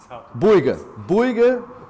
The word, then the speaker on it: Bouygues: What's the correct pronunciation? Bouygues Construction.